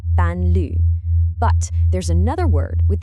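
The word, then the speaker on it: 伴侣: In Chinese, the word for companion is pronounced panlu.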